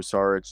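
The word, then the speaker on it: Šarić: That's how they say it on the broadcast. Saric. Like I'm Sean Connery.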